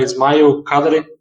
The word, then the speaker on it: Ismail Kadare: vezes para algumas pessoas, já me corrigiram várias vezes, eu não sei o nome correto, a pronúncia correta, mas da última vez que me corrigiram é Ismail Kadare.